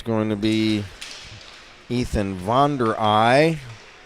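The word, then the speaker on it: Vonderahe: going to be Ethan Vere ey Vere ey that's a Dutch pronunciation v o n d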